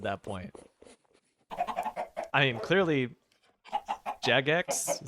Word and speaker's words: Jagex: I mean, clearly Jagex is how you pronounce the name of that company that makes it.